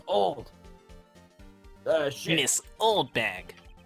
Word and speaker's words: Olde: It's pronounced old.